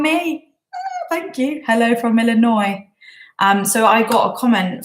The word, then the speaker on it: Illinois: thank you hello from Illinois so I got a comment from one of you guys they don't pronounce the S on Illinois because people don't like